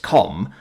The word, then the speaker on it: CAUM: The hyper-microprocessor revolution of half a century prior proved the CAUM, pronounced COM, provided the audio that accompanied the shocking images from Sol's Systems' resource-rich Kuiper Belt mining operations.